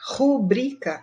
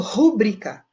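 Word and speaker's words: rubrica: olha lá o brica rubrika é o correto só que eu já vi muita gente falando pública e não pode cobrir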